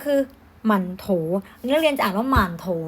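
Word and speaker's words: 馒头: มัน ถูก ก็ คือ หมั่นโถว เลือก เรียน อ่า มาร โทร ไม่ ได้ นะ คะ เล่น อ่าน ว่า มาร์ค โท หมาน โถ นะ ข้าง หลัง เป็น เสียง เบา นะ อ่ะ โอเค ทำ นี้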